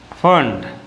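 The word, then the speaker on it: Pfund: है पांचवा है क्या फंट समझ गए फ प साइलेंट है यहां पर क्या हुआ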